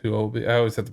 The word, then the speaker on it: Huobi: Yeah, it's Huobi. I always have to pronounce it like that.